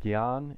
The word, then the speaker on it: jñāna: And so how we pronounce it instead is gya, like a G and a Y sound. Gya, gya. So gyan is knowledge, Jnana Yoga is the path of knowledge, and it